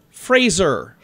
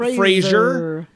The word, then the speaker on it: Fraser: of people have been saying his name wrong Brendan Fraser not Frasier yeah whole time love